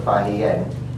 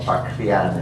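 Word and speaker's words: Faxian: That comes from Fahian, or Paxian, as they are now sometimes called, or Paxian. There are different ways of pronouncing this name.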